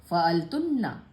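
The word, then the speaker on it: فَعَلْتُنَّ: और अंतुन्ना स्त्रीलिंग वाला शब्द, फेमिनिन शब्द, फ़अलतुन्ना, वही वजह, फ़अलतुन्ना, जोर देने के लिए, कहाँ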